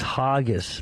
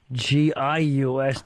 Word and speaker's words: Hargis: Yeah, my last name is Hargis, Hargis. Hargius. The U is silent. Hargis. Yeah, Hargis.